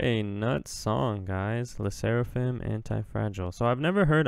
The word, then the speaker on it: Sserafim: there dude that was tight the seraphim the seraphim okay now I know how to say it